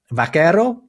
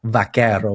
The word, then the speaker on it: vaquero: just learned, is that V and B basically pronounced exactly the same in Spanish.